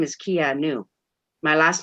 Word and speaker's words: Anu: Anu, like A-N-U, like Anunnaki. Yeah, or A-N-A. You do it both ways, but it's pronounced Anu.